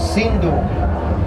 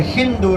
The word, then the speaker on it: Sindhu: tu są Indie, Here is a river tu jest rzeka, called Sindhu. która się nazywa Sindhu. The Persians, Persowie they don't pronounce the S like that, they pronounce it like nie Ha.